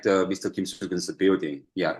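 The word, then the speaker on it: Kim Swoo-geun: How do I pronounce his name? Kim Soo-gun. Kim Soo-gun. Yeah, Kim Soo-gun.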